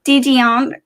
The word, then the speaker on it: Dedeian: have a special guest her name is d dionne pronounced your last name for me did this that's